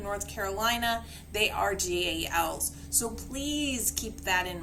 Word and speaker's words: GAL: First one is CASA or GAL, and that is actually how that is pronounced, GAL.